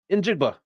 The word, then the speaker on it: Njigba: Njigba.